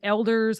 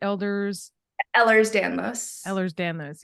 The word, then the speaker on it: Ehlers-Danlos: My daughter's doctor, she has EDS, is Elders, how do you say it? Ehlers-Danlos, yes.